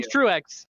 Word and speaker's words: Truex: row 15 with ryan truex and i'm going to show some respect to ryan truax and say his name properly chase angle david hensley in row 16.